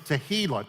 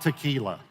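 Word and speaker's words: תהילה: the third one is tehila to sing a song of Thanksgiving now make sure you pronounce this one correctly it's not tequila which it might cause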